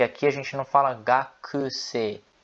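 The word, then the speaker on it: 学生: Então, se baseando no japonês padrão, a pronúncia correta é gakusei, beleza?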